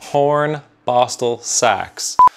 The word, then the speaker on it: Hornbostel-Sachs: Hornbostel-Sachs.